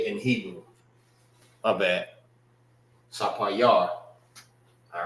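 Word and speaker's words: ספיר: Sapayar. Sapayar. All right, remember, a lot of words sound similar to their name. All right, when it's said in Hebrew. My bad. Sapayar.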